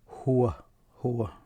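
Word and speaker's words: هو: Huwa, that's how you pronounce it.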